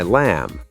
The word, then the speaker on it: lamb: I'd like the knife and fork, please, to cut my lamb. Oh, knife and lamb both have silent consonants. Exactly. If you said knife or lambb, it would sound really unnatural, but when you know the pattern, you sound fluent.